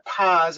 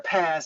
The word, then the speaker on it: PaaS: is a what's called a paas or a pause or a pass depending on how you say it a platform as a